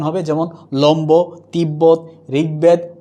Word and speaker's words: তিব্বত: যেমন তিব্বত, কি হচ্ছে উচ্চারণটা?